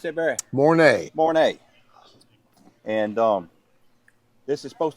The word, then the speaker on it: Mornay: How you pronounce that, Barry? Mornay.